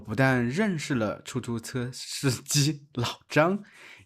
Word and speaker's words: 出租车: it hard to pronounce 对我们两个南方人就是容易念错 duì wǒ men liǎng ge nán fāng rén jiù shì róng yì niàn cuò Right, the two of us Southerners are likely to mispronounce it 啊哈哈 a hā hā Ah, haha 出租车我们念出租车 chū zū chē wǒ men niàn chū